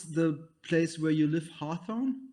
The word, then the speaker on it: Hawthorn: because, so how do you pronounce the place where you live? Hawthorne?